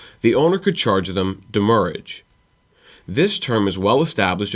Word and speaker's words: demurrage: also based off of the way that the original French word that it is based off is pronounced it is demurrage damage so it originated